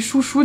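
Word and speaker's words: Xouxou: Vu qu'on est sur les téléphones, je voulais vous parler de cette coque chaîne de la marque Chouchou qui s'écrit Xougzou mais qui se dit Chouchou.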